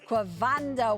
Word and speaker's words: Quavondo: Quavando? Yes, ma'am. Quavando.